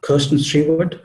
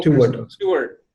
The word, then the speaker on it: Kristen Stewart: Kirsten Stewart? Is that how you pronounce her name? Kirsten Stewart. She is an actress, I think. Kirsten Stewart. Oh, Kristen Stewart.